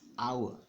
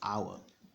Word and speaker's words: hour: wrong it's it's awful that's not how to pronounce it tell me one it's our one hour it's not wrong don't be intimidated by the are people pronounce it the right way it is our 12 hours this is our now this has